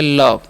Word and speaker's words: love: ठीक है, और यहाँ पर LOVE है तो इसे लोभे नहीं पढ़ते हैं। ओ का उच्चारण अ करना है, तो ल, अभी ई का व करना है, तो हो गया लव।